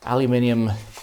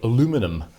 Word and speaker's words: aluminium: a very nice looking aluminium pedal board, or as the Americans would say, aluminum, but that wouldn't make any sense because that's not how it's spelt.